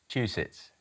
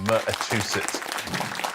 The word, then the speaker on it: Massachusetts: how to say it Gary m juicit not quite you missing out a syllable there Amy M aets that's what we're looking for yeah Massachusetts Massachusetts next one which